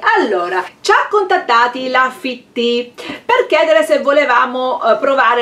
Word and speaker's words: Fittea: È arrivato anche su Due Cuori Una Cappa, Fitti. E allora, questi influencer... Ma è scritto Fittea. Fittea, ma invece si legge Fitti. Wow!